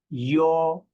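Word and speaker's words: 幺: Okay, so the nickname of E is pronounced yo. It's somewhat like the southern people in the United States say you, yo.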